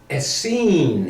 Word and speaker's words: Essene: Essene.